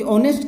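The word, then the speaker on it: honest: ऑनेस्ट, होप, inhibit, तो ये तीनों तो हो नहीं सकते, बचा क्या, ऑनेस्ट, क्योंकि ऑनेस्ट के अंदर एच क्या है, साइलेंट होता है ना।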